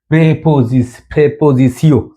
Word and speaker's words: prépositions: Les prépositions দেখেন এর মধ্যে উচ্চারণ করে দিয়েছে এই যে প্রেপোজিশিও উচ্চারণ দেখাই দিলাম এর মধ্যে।